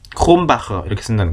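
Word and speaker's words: Krombacher: 크롬바에 크롬 크롬 이게 발음이 정확하게 우리말로 표기 어려우니까 크롬 홈크 크롬 막 이게 사이걸로 쓰는데 이제 크롬 크롬 크롬바흐다는 거 크롬바흐 에르딩거라는 맥주 있죠?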